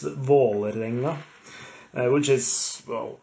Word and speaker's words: Vålerenga: It's Vålerenga, which is in a clean Norwegian way of pronouncing it. It's Vålerenga.